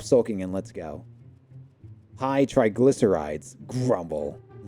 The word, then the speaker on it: triglycerides: Trigildides. Trigildides? Trigillic Earths. What? I'm gonna type this. What's this say? Let's see. I want to see it sound. How to pronounce this word? Let's see. Triglycerides.